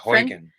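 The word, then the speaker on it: Haugen: day before that one francis how do you pronounce hoyton francis huygen huygen francis huygen did a in an interview on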